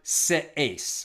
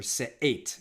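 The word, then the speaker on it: שאת: The ambiguity is on the word se'es, or se'et, in a more Israeli pronunciation.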